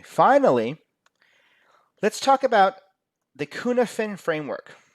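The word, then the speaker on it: Cynefin: the consequence okay finally let's talk about the Kuhn ofin framework it's not spelled Kuhn ofin but that's how it's pronounced the Kuhn different framework says that you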